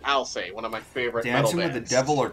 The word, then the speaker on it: Alcest: a play on words to say alcest i'll say or i'll say the actual pronunciation of the band i'll say one of my favorites